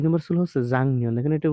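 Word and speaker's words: 작년: ২ নম্বর ছিল হচ্ছে জাংনিয়ন। দেখেন এটার উচ্চারণ জাংনিয়ন।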